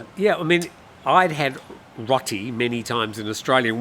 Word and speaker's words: roti: Rotty. Rotty. Okay. I say roti. Roti. But you're pronouncing it like the ties pronounce it.